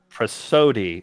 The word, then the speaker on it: prosody: Prosody is how full X said it's pronounced.